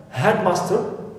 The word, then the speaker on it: headmaster: okay part or element i have headmaster so here it is our first exception so here i should what stress must not help because it is exception right